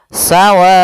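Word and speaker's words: سواء: yaitu empat harakat maka sawaun maka di sini panjang wa adalah at harakat maka kita panjangkan dulu w-nya sepanjang empat harakat baru dibaca onnya mad wajib muttasil itu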